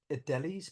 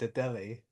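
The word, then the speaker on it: Adélie: Adelis penguin, is that not right? the Adelie penguin?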